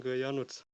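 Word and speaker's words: Janusz: the comment reboot yes my name is not pronouncing like you said you're not he's pronouncing januz okay yeah i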